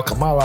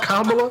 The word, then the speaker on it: Kamala: I said Luke while Kamala out there dropping the Kamala?